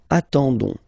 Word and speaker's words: attendons: nous, so O-N-S, okay, you don't pronounce the S, so you get only this on sound, okay, attendons, nous attendons, so we'll